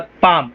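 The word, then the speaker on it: palm: Elbow माने कोहनी, wrist माने कलाई, हैंड माने हाथ, पाम। यहां पे एल साइलेंट। ठीक है?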